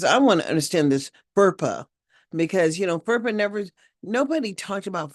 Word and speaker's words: FERPA: FERPA. FERPA. No, it's FERPA. FER. I don't know how to even spell it. FERPA. FERPA. FERPA. FERPA. FERPA. Not purple. Didn't sound like purple. It sounds different. FERPA.